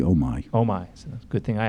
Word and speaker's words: Omi: talk about Oh me and in pronouncing that right Oh me it's actually oh my oh my good thing